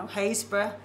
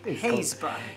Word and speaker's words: Happisburgh: No, Happisburgh. But is Happisburgh the way I pronounce it? That's how it's spelled, but it's called in Norfolk, Happisburgh.